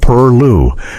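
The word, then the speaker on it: pilau: Pilowo, pronounced purllu, was the perfect way to stretch chicken and make collarded greens appealing to family members who might otherwise resist them.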